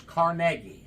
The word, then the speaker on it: Carnegie: most common questions we get here one is pronounce the name of the town it's carnegi carnegi not Carnegie uh as they say in some parts of